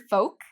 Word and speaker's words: folk: So with the word folk, there's no L pronunciation, folk.